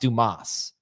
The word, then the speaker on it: Dumas: And he goes, it's pronounced Dumas.